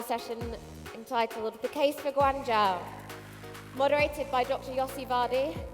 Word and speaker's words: Guangzhou: Did I pronounce it right this time? How you say it? Guangzhou.